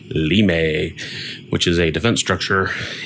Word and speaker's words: Limes: copy of limes where as is apparently correctly pronounced lamay which is a defense structure in I believe in Rome or Greece to defend against the barbarians but with all the farming games out I thought limes was your crop instead of wheat or hay